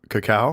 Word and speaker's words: cacao: essentially just chocolate flavor that's how you pronounce it I've been saying it wrong cacao cacao yeah yep